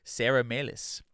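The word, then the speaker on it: Sara Melas: Alex becomes enamored with Sarah melis or melis I think they pronounce it Sarah melis in the movie played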